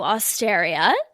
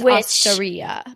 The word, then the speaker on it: osteria: Other places we dined were San Carlo Osteria. I think it's Osteria, but yes. Oh, I'm sorry. That's so embarrassing. I went to Italy. Osteria. Yeah, rhymes with hysteria.